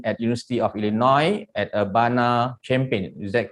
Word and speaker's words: Urbana-Champaign: And prior to that, Master Science in Mechanical Engineering at University of Illinois at Urbana-Champaign. Is that correct, the pronunciation?